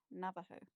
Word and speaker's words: Navajo: Oh, it's pronounced like jalapeno, Navajo. I don't know.